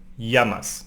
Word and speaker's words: llamas: The double L in Spanish sounds like y, llamas, no? Llamas, like in Mallorca, no?